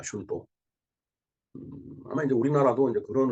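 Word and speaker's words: 春闘: 일본 발음은 슌또입니다. 슌또.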